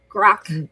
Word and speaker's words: grok: understand deeply intuitively so grok and then Spock said wrote a book or something wrote like grok Spock right because it would rhyme with it so it's it's it